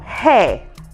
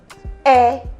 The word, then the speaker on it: hair: delete it okay so rather than saying um hair like you know a lot of women spend a lot of money buying expensive hairs and they say oh my air is very expensive okay that's wrong so you cannot be